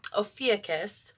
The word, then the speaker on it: Ophiuchus: So right away, Ophiuchus, which I know I'm saying it right because